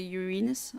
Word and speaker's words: Uranus: of of the planet Uranus or Uranus more this it's more uh the pronunciation is more correct if you say urenus I don't think I